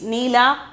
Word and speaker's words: नीला: Then the fifth one is neela. Pronunciation is neela, blue.